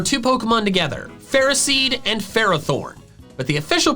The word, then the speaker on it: Ferrothorn: But the official pronunciations are phariseed and ferrothorn. Ferrothorn. Those pronunciations don't make any sense. The first part of their names comes from the word ferrous, which means containing iron.